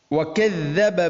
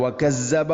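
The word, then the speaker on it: وَكَذَّبَ: ദ എന്ന അക്ഷരത്തിന് ശബ്ദ് വരുമ്പോൾ, ദാലിന് ശബ്ദ് വരുമ്പോൾ അധികം ആളുകളും പലപ്പോഴും എന്താണ് വകദ്ദബ എന്നതിന് പകരം വകസ്സബ എന്നോ വകദ്ദബ ഇങ്ങനെയും വായിക്കുന്ന ഒരു ഓത്ത് നമുക്ക് കേൾക്കാൻ പറ്റും. അപ്പോൾ അത് ശരിയല്ല. ശ്രദ്ധിച്ചുകൊണ്ട് നാവിൻ്റെ അറ്റം അല്പം മുന്നോട്ട്, മുൻപല്ലുകളുടെ ഇരുനിരകൾക്കിടയിലൂടെ അല്പം മുന്നോട്ട് വന്നാൽ വകദ്ദബ, വകദ്ദബ, അതാണ് അതിൻ്റെ മഖ്റജ്.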